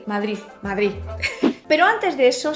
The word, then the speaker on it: Madrid: pero antes de eso si nos paramos a ver qué es lo que ocurre cuando pronunciamos palabras como juventud y madrid en este vídeo tengo que forzarme a pronunciarlo bien vale porque yo normalmente pronuncio madrid o madrid cuando pronunciamos palabras como madrid o juventud lo que nos damos cuenta es que la lengua sube y toca la parte superior de los dientes superiores la juventud está preparadísima